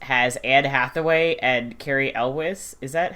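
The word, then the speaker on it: Elwes: Um my favorite actually Gilly movie is The Cat Returns which the English cast has Anne Hathaway and Carrie Elwiz.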